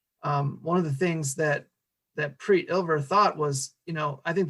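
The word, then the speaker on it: Prit: I believe it's pronounced Preet, P-R-I-T.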